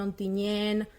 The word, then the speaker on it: Ontinyent: Nosaltres la T final no la pronunciem ni en Bocairent, Ontinyent, Agullent, i és una característica de la nostra zona.